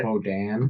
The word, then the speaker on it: boudin: You would go here to get a good boudin. What? You would go there to eat a good boudin. Or maybe Boudin. Boudin, there you go.